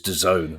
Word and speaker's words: DAZN: laugh at me like when I try and pronounce DAZN, which apparently is DAZN.